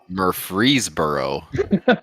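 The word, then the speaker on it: Murfreesboro: that I Dare You Murphy mboro murfreeboro like I would have freezer H not like freezer but close free like freedom it's surprising how many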